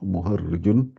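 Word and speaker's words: مهرّج: C'est avec un ra avec un shadda et un trait en bas.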